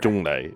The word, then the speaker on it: Zhongli: Zhonglei. It's because it's the Cantonese pronunciation.